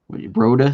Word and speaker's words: Rota: Warner says he's been to Rota, Spain.